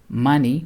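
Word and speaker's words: Máni: Dies Lunae, changed to Mani, which is pronounced Ma-ni, is the god and personification of the moon.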